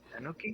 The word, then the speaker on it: Tanuki: it's it's a tunaki right that's how you pronounce him tanaki Tanuki Tanuki Tanuki yeah Tanuki don't you know the